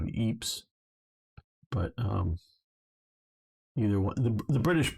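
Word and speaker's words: Ypres: Wipers, and yes, I know that's the British pronunciation of Eeps.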